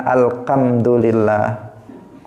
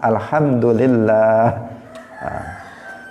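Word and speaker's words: الحمد لله: tidak boleh seseorang salah Alhamdulillah jangan alkhamdulillah jangan Alhamdulillah tetapi pakai ha Alhamdulillah kemudian nama Allah itu bagian tengahnya itu panjang lillah bukan Alhamdulillah bukan Alhamdulillah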